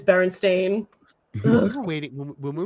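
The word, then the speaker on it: Berenstain: I I legit like that's a barenstein bears thing for me actually bar stain bears and everyone everyone thinks it's Baron stein bears yeah it is Baron stain we were waiting when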